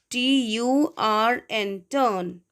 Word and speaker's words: turn: Be careful while pronouncing this word T-U-R-N, turn.